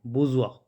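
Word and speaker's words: bourgeois: वर्ग तो एंटम इसके इसको बोलेंगे बजवा ठीक है बजस लिखा हुआ है तो इसमें कई वर्ड साइलेंट है तो बजवा इलाइट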